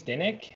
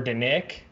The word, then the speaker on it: Dinic: sugars and like performance, Dr. James Dinick, I think that's how you pronounce his last name, D-I-N-I-C, or Dinick, might be like an Italian last name.